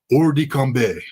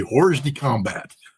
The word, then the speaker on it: hors de combat: the water, they are hors de combat. That's the French pronunciation of what we Marines would like to say hors de combat.